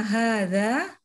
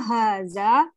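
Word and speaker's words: هذا: Ya, hadza hanya panjang. Hadza kitabun. Haza kitabun. Kitabun. Tanya panjang. Kitabun. Haza kitabun. Oke. Ma haza Hadza hanya dibiasakan hanya agak panjang dikit.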